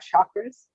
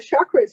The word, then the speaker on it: chakra: The chakras are actually pronounced chakra, but I like the sh sound better. It's not so rude. It's like chakra.